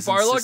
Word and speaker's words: Barlog: Is it Barlog? I'm sorry, I've been saying his name wrong. Shit, I and thought it was in line Balrog.